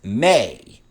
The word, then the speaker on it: me: The Anunnaki were the keepers of the mi, pronounced may.